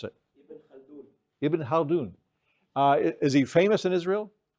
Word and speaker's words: Ibn Khaldun: How do you pronounce it? Ibn Khaldun.